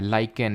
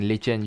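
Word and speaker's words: lichen: का बना हुआ है लाइकेन लिचेन जो भी आप प्रोनाउंस करो किस पर्टिकुलर फाइलम से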